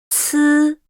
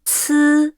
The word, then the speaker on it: 呲: 滋 Is pronounced with no strong airflow, while 呲 comes with an obvious airflow.